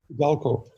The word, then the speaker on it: iDalko: Frances Martin is a co-owner of and I'll have you pronounce the name. It's iDalko, correct? iDalko, yeah.